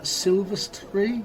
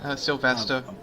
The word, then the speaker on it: Sylvester: How's it pronounced? Silvestry? Sylvester. Sylvester.